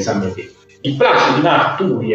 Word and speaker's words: Marturi: E io per una vita ho pronunciato Placido di Marturi, visto che non c'ero mai stato, perché è un paese in Toscana che si chiama Marturi, c'è proprio l'accento sulla U.